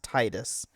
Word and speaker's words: Tidus: It's pronounced Titus. Yes. It'd be awesome. This caught contraction to everybody and everybody started calling Titus after this episode. I don't know anybody who pronounces it as Tetus apparently. I mean the thing saying that it's clo since the Japanese version of it is Tetus then it should be that way in English.